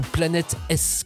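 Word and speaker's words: Planetes: Ou Planète S, comme il souhaite qu'on le prononce.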